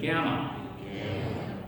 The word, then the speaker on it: gamma: okay this one is called gamma okay ready gamma gamma gamma gamma gamma Perfect.